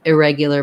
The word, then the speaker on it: irregular: rather than regular but if i'm just using irregular by itself it won't have any stress in that first syllable um usually it's this yeah part um that gives people trouble and also they may want to do more like regular regular but we tend to use a schwa there because that syllable is unstressed good words thank you